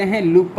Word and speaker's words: Henle: है इसको हम कहते हैं लूप ऑफ हेले। क्या कहते हैं भाई, लूप ऑफ हेले। ठीक है, HENLE ये स्पेलिंग है इसका, मैं आपको बता दूंगा, यहाँ पर लिखा हुआ है लूप ऑफ हेले।